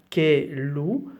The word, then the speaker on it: caillou: Un caillou, so here normally you should pronounce e, caillou, but when you have double L in French and I just in front, we don't pronounce the look like a E.